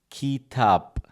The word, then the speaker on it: kitap: Kitap. So the I is like e sound.